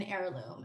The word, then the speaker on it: heirloom: wouldn't have an age the H is silent the whole word is